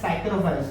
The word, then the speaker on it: साइक्रोफाइल्स: जो bacteria ice पे पाए जाते हैं उनको हम कहते हैं साइक्रोफाइल्स। इसमें पी साइलेंट होगा, लाइक साइकोलॉजी पी साइलेंट।